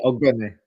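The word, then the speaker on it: Ogbene: I can't pronounce his name. Ogbeni. Yeah, Ogbeni.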